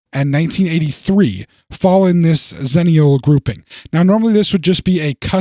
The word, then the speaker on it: Xennial: the term kind of came from and uh ziniel is a term and though it's spelled with an exit it's pronounced zenial it is a term that is now used